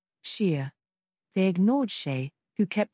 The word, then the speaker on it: Shea: like that come on it's not a hard name to say Shea Shear repeat after me sheer they ignored Shay who